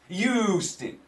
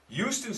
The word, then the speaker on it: Houston: And all my friends in Texas say, Mike, it's not Houston with a U. That's not how you say it. Well, that's how I say it with my New York accent. Houston.